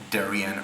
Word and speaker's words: Darien: People in the rest of Connecticut say Darien rhymes with Aryan.